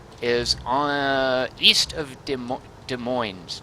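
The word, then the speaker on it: Des Moines: on east of De De Moines de moin de moin yeah you don't pronounce the N the S it's French right whoops I just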